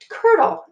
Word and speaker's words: colonel: cannot stand alone so this word is Colonel 2 syllables colonel so that's how you